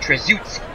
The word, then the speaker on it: Trzaskowski: And thank you very much for Bart Ewing to give me the pronunciation in the chat. Greatly appreciate that. Trzaskowski.